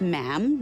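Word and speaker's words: ma'am: majesty and after that it's just mam rhymes with jam and it's always a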